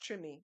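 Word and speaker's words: Treme: New Orleans in the trim and you all may remember that HBO series T yeah the the the the with the accent of Louisiana it's pronounced trim oh okay um the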